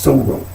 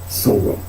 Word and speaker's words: soror: So when you say sorrow, it's not a dot. You know, like a syllable break. It's just sorrow.